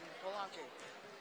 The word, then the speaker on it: Polanque: And Polanque. Just for those 2. I forgot to tell you to pronounce it. That's it. Yeah, I know. I thought there was an S in his name. Polanque and Baco.